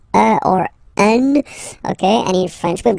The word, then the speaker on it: un: but you've got to pronounce it like un. So it's what we call the nasal, so it goes in your nose, okay? So if you listen to me, you don't hear any N, okay?